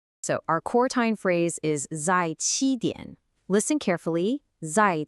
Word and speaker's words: 在: First up, zài. A really common mistake for English speakers is to make that Z sound buzzy, like in the word zoo.